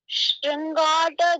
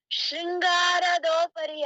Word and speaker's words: ಶೃಂಗಾಟ: ಮಂಟಪದೊಳಗೆ ಲಿಂಗ ಪೂಜೆಯ ಮಾಡಿ ಎಷ್ಟೋ ಜನ ಅದನ್ನ ತಪ್ಪಾಗಿ ಉಚ್ಚಾರ ಮಾಡ್ತಾರೆ ಶೃಂಗಾರದೋಪರಿಯ ಅಂತ ಎಲ್ಲಾ ಎಲ್ಲ ಬಹುತೇಕ ಈ ಹಾಡನ್ನು ಹೇಳಿಕೊಳ್ಳುವರೆಲ್ಲ ಹೀಗೆ ಹಾಡೋದು ಶೃಂಗಾರ ಶೃಂಗಾರದೋಪರಿಯ ಅದಕ್ಕೆ ಅವರು ಶೋಡಶೋಪಚಾರ ಮಾಡಿದೆ